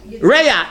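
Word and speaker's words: רֵעַ: Reah. In biblical Hebrew, it's Reah. Reish Ayin.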